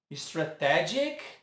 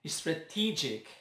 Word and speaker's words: strategic: Como você diz? Strategic. E se eu disser que está errado? O certo é strategic.